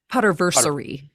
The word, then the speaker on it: Potterversity: what did I say poter ver oh like rhymes with anniversary oh that's a new